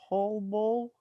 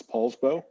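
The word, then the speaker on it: Poulsbo: i can't pronounce it p-o-u-l-b-o paul bowl uh and oh huh i believe it's paul's bow yes yeah paul's bowl right so besides the city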